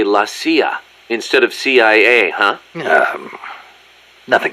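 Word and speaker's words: la CIA: around here they say la sia instead of c.i.a huh nothing strange about it that's how it's pronounced when you read it in spanish it has the feminine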